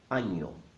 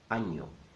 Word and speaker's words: año: Año. Año. Año means year, and the letter in the middle is not an N. It's called ñ, and makes that sound ña, ña, ña.